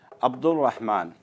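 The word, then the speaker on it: عبد الرحمن: मिसाल के तौर पर अब्दुर्रहमान, अब्दुर्रहमान कहते हैं हम, अलीफ बा दाल और सीधा रा से जोड़ देते हैं, अब्दुर्रहमान। अलीफ और लाम प्रोनाउंस नहीं किया जाता है, लेकिन जब हम इसकी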